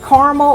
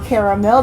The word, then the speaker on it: caramel: All right, and then your base notes of this one, it has beeswax, it has caramel or caramel depending on where you are from in the country, patchouli, and licorice.